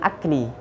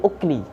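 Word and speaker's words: أُكْل: Jadi bacanya bukan al-imsaku anil akli, tapi al-imsaku anil ukli. Dengan dhammah hamzahnya.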